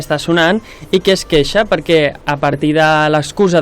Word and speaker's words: Kesha: Queixa, es diu queixa, es pronuncia queixa. Sí, com queixar-se. Val, jo deia caixa.